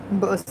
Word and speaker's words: بقص: Because you know that 99% of the times, maybe in Lebanese Arabic, we pronounce the قاف, the letter قاف, as a أ, as if it's a hamza.